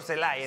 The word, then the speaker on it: Celay: 291 Víctor celay que es el refuerzo se pronuncia Víctor celay celay celay celay Víctor celay 284 que es